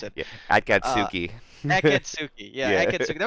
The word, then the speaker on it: Akatsuki: Yeah, that was well done by I need to look up the name of this team so I know how to pronounce it. Yeah, Akatsuki.